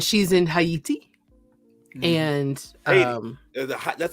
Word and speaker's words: Haiti: and Haiti.